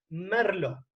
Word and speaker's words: Merlot: si recuerden que es se escribe con té final pero no se pronuncia merlo el merlot es una